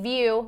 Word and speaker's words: Vue: to use the hashtag TD view v u e because that's how you spell it and we want you